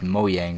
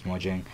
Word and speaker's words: Mojang: I believe it's actually pronounced Mojang, but everybody says Mojang.